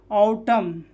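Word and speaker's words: autumn: जैसे ऑटम, column, dam और hymn, यहाँ पे एन क्या है, साइलेंट, एन क्या है, साइलेंट, ठीक है।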